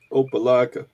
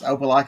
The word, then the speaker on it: Opelika: these names oh nope Opa Locka Opelika that's Opelika Alabama well if you look